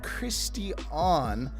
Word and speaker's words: Cristian: My name is pronounced Christian, but it's spelled okay.